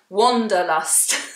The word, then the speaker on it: wanderlust: I always say it wrong. I say it like wonder, like I wonder, but it's wander, wanderlust.